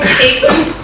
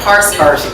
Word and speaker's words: Cason: It's my, like my, hyphen, and the last name, Cason, C-A-S-O-N. A lot of people want to throw in the R like Carson. It's Cason.